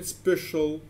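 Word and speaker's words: special: اي بيتنطق كانه اس لكن في الكلمات دي حرف السي جاي بعده حرف الاي ومنطقه كانها ش كانها اس اتش يعني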